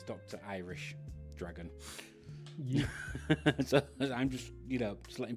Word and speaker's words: DrIrishDragon: So for anybody that does read that and they think it's DrIrish, it's not. It's Dr. Irish Dragon.